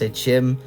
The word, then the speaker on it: Sekhem: Sekhem is often pronounced Sechim, doesn't really matter, it is the same